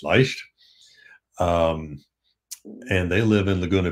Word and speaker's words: Leicht: And some of you have maybe heard of Wayne and Donna Leicht, or Leicht, however you want to pronounce it. In German, it's Leicht.